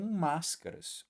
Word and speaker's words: máscaras: desenho né O Máscara Veja a sílaba tônica tá aqui ó e ela não é a primeira cuidado tem muita gente